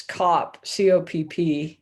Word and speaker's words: Kopp: because the spelling's wrong it's not coop it's cop copp so i have